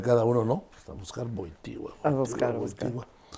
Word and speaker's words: Wojtyła: Entonces, ya lo viste y en el camino le pregunta, oiga, ¿cómo se pronuncia su apellido? Porque Boitila, ¿no? Y entonces le dice Carol Boitigua.